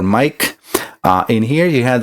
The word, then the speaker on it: Maic: Yeah, my name is spelled a little different, but it sounds like a regular mic.